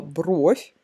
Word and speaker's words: бровь: Смотрите, в единственном числе слово «бровь» в большинстве случаев, в подавляющем большинстве случаев произносится с ударением на букву О, кроме сочетания с приставкой «на». А во множественном числе ударение может ставиться в разных частях этого слова, и на букву О, и на окончание, и даже на суффикс.